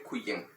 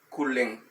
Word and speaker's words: kulen: Se suena LL, no se dice kuyen, kulen.